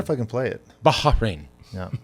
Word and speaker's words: Bahrain: We were like, it's Bahrain. And then not somebody even right. from the Middle East sent us the pronunciation.